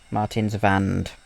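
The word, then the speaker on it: Martinswand: Martins vand have to remember W's in Germany are pronounced as a V over another main road on a curved vioaduct.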